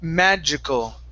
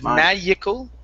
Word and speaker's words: magical: here so first up we have the word magical instead of magal Mag magical magal okay